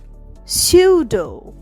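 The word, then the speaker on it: pseudo: সে নিমোনিয়ায় ভুগছে না সুউড পি এসই ইউ ডিও সিউড পি উচ্চারণ হচ্ছে না সিউড সিউডো মানে ভু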